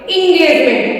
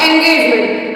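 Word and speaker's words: engagement: Pronunciation ए नहीं करेंगे, वहां पर ई का प्रोनाउंसिएशन हम ई करेंगे, ELEVEN, 11। एग्जाम्पल ही बोलेंगे इसको, example. 11, इंगेजमेंट, ENGEGEMENT, इंगेजमेंट, नॉट एंगेजमेंट।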